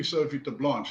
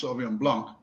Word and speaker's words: Sauvignon Blanc: So I said, what is die Sophie de Blanche? He said, well, some of us can't pronounce. In fact, our workers can't pronounce Sauvignon Blanc, but they can pronounce Sophie de Blanche.